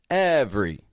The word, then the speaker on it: every: see another one here every every again it's spelled every v r y but I'm taking that middle e right out every strong we here's another